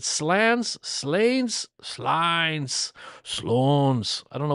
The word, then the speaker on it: Slains: The quiet nomad says it's slains and oi says slains as it's slain. Oh, thanks. With a short a like lane but with an s at the end and castle.